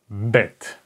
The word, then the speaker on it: bet: point in the middle this is BET like in English the word Burden Burden B this is the sound it makes bet bet and in writing